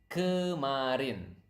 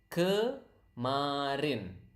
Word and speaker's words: kemarin: It is kemarin. Okay, again, repeat after me so that you can pronounce the word correctly. Kemarin.